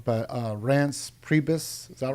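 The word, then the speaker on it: Reince Priebus: And uh you know um I always say his name wrong but uh Rance Priebus. Is that right? Rance Priebus. Yeah. Right. R Yeah. Say it. Rance Priebus.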